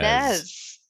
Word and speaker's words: SNES: It's pronounced SNES. Nez.